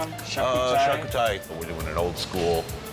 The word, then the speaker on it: charcuterie: How do you pronounce that one? Uh, charcuterie.